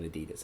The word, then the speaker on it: Adidas: It's not Adidas. It's actually Adidas. It's Adidas. My aunt is from the city in Germany, and she knows the name of the guy. That's his name. That's how it's pronounced, right?